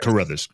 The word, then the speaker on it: Carruthers: Carruthers.